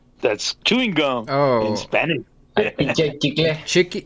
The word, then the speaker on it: chicle: Chicle. Is it actually pronounced chicken? No, it's chicle.